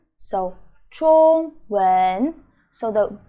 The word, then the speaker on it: 中文: Okay, it is 中文, 中文. So the first word, ZH, is 知, just like the first vocab we learned, ZH, the 知, the same sound.